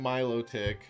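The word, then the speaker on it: Milotic: I remember how to pronounce it this time. Milo Tick.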